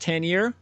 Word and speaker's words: Tanier: beforehand but I'm gonna guess your last name is pronounced tenure correct all right excellent there